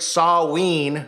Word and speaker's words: Samhain: Sorry if I say Sam Hain and people go, it's Samhain. I heard it in Halloween 2, if anyone has ever seen it, and Loomis says Sam Hain, so that's what I thought it was.